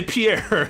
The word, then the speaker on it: Pierre: the e or the T you just say Pierre you're like oh Pierre and you're also in parenthesis thinking that name